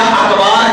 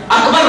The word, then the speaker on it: اکبر: اکبر کہہ دیا تو یا اکبار کہہ دیا، اکبر نہیں کہا اکبار کہہ دیا تو نماز نہیں ہوگی۔ کیوں؟